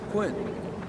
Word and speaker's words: Quinn: Ah, Quinn. Very interesting, Quinn. Rhymes with twin, does it not? That's right, twin, yeah.